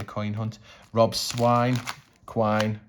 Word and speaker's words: quine: Rob's swine, quine, rhymes with swine.